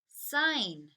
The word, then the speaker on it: sign: is silent in sign we don't say the G the N does all the talking and a not we